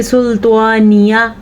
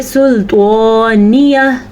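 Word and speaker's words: سلطانیه: اگر ہم نہیں پڑھیں گے تو ہم کہیں گے سلطانیہ، ہا نہیں پڑھا ہم نے. اگر ہم پڑھیں گے سلطانیہ تو یہ بالکل ٹھیک ہے.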